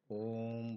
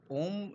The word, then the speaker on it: ओम: जैसे कि अगर कोई नॉर्मली बोलेगा तो ओम, लेकिन हम ओम ऐसे नहीं बोल सकते हैं। ओम हमें अपने पेट से वाइब्रेट करके निकालना पड़ता है और अगर इसका संधि